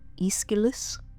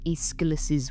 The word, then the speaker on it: Aeschylus: If you look a little later than Hesiod at the work of Aeschylus, I believe is how it's pronounced, the Greek playwright often considered the father